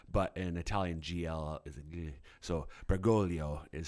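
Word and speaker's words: Bergoglio: So it looks like Bgoglio, right? But an Italian gl. So Bgolio is how you uh, pronounce the holy father's um, last name.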